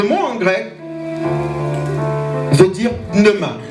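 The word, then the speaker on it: pneuma: Et le mot en grec veut dire pneema. Pnema qui s'écrit p n e u m a.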